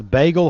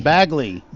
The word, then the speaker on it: Bagley: Jennifer is asking me, where was Bagel High School? Was it in the same building? Bagley. Okay. That's the education building. Bagle. Okay, yeah. I just mispronounced that.